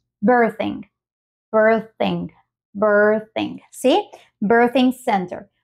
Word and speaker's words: birthing: represente la TH pero lo más parecido ha sido la z y nosotros le añadimos una H simplemente para recordarles de que tampoco es la z castellana sino que es una Z más como bir birthing birthing birthing sí